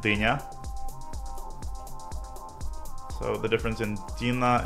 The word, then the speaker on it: Dina: weird russian is is d-i-n-a means cantaloupe or what's that vegetable called but it's it's pronounced deena so the difference in